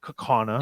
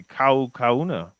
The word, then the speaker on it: Kaukauna: in appleton and kana that's the way to pronounce that by the way kakana i would say i would have said that if you're in hawaii you would say kaukauna but we're not kawana kakawana that's right honor